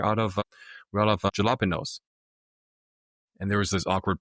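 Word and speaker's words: jalapeño: How is a J from the jalapenos? How is that pronounced like an H?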